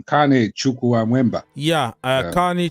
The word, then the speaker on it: Chukwuemeka: Kane Chukwuemeka. Yeah, Kane Chukwuemeka. How can Chukwuemeka? Like you have to divide it. Like when I learn his name, I have to say Chukwuemeka.